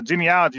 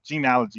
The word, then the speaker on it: genealogy: So, it's so genealogy is documentation.